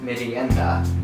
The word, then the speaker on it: merienda: And snack in Tagalog is merienda.